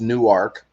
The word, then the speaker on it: Newark: there in Newark Delaware it looks like Newark but it's pronounced new arc new arc and there's